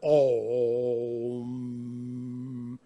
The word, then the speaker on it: Om: This is a symbol written Aum, but you pronounce it Om.